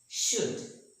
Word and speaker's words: should: Should. It's not should, but it's should, could, would.